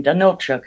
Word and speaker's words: Danylchuk: you so much I I apologize for mispronouncing your last name Donald Chuck I think is yeah that is okay okay correct okay very good I